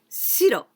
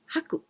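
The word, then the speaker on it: 白: Haku, well, this haku, this is shiro, white color, shiro. And we can also pronounce haku.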